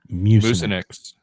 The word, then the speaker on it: Mucinex: gonna ask for sponsorship, you have to pronounce the company's name correctly. It's Mucinex. Mucinex. You said Mucinex. Mucinex. Mucinex. It's not a moose.